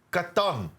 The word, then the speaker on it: Catan: Let's start with CATAN. That's how you pronounce it, right? Catan. There's various pronunciations, but yeah, Catan is pretty good.